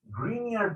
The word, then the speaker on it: Grignard: But then after I came to the US, I learned that the second G is silent.